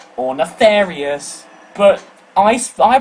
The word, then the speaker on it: Nefarious: and then we have nefarius or nefarious but I I pronounce of Nefarious cuz all the other languages pronounced him like that and that's how his name is spelled so deal with it